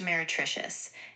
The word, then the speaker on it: meretricious: Pronounce it for me and tell me what it means. Mertricious. And trivial compared to those which the artist deliberately wrought. Of course, the word is pronounced meretricious, and it means something that appears attractive but